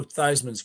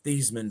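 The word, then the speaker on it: Theismann: idea I believe to change his name from thieman to thyman thyman yeah rhyme with the Heisman yeah Roger just a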